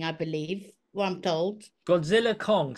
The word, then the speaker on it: Godzilla x Kong: It's a silent X naming thing. I believe one told Godzilla Kong.